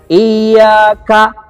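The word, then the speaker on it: إِيَّاكَ: Iyyaka, seperti putus dia.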